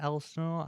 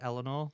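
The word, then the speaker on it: Elsinore: Elsenor, I don't know how you say that. E L S I N O R E. I think it's Eleanor. The S is silent.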